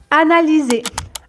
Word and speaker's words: analyser: Analyser. Analyser. Donc, le Y se prononce comme un I.